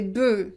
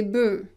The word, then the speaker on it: bœufs: Un bœuf, des bœufs, des bœufs. So you pronounce it e. Why that? Because we don't pronounce the final consonant here for the plural.